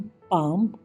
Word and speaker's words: palm: LBMFK की आवाज़ से साइलेंट हो जाता है। PALM, पाम, यानी कि हथेली।